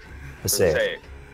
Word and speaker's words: Passaic: Did I pronounce that right? Passaic? Passaic.